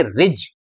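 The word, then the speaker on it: ridge: शिखा था उसके अनुसार इसको राइस बोलना चाहिए था लेकिन हम इसको राइस नहीं बोलेंगे क्या बोलेंगे रिच रिच मतलब पहाड़ी है ना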